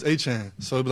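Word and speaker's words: Etienne: Travis, is it ETN or is it Achan? Let's go on this journey together. So growing up, it's Travis Achan.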